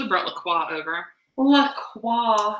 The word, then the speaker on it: La Croix: La Croix. La Croix. Right now that we figured out how to pronounce it.